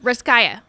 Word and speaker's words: Russkaja: Russkaja.